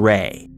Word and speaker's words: Rae: aisha rae: A YouTuber named aisha rae has a unique approach to hunting for